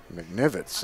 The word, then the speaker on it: McNivitz: I mean, it was an open base, but there's only one out here for Miknowitz now. the first baseman, number 14, Kennedy McNivitz. McNivitz is how it's said by the PA announcer.